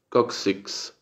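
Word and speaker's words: coccyx: es tale bone y la otra es cox six kuksiks sí kuksiks entonces dónde está el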